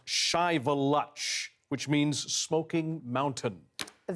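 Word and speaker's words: Shiveluch: kidding and I need to correct myself it's pronounced chivaluch which means smoking Mountain a very uh a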